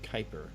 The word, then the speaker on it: Kuiper: Okay, and it's pronounced Kuiper.